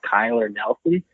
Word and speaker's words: Knelsen: up in northern Alberta, Kyler Nelson. Check out his Instagram. His name is spelled Knelsen. That's his last name.